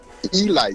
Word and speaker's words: Elite: Now, it's spelled elite. Oh, okay. But it's pronounced elite. Yeah, you make those Negro Leaguers mad if you call them the elite Giants.